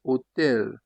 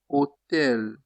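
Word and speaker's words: hôtel: For example, they say hotel. Mean that you forget that there is H. Just start with the O. Hotel. Hotel. Usually H in French is silent.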